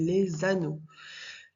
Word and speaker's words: les anneaux: S les les anneau donc après on fait la liaison on dit les anneaux les anneaux et très